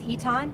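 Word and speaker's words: Eytan: resources they abuse yes my name is eton it's spelled i-r-i-s-e-y-t-a-n what do you think baby that's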